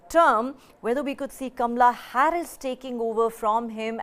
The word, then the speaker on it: Kamala: She calls herself Kamala Harris, not Kamala I don't have an American accent, so I will say it the Indian way.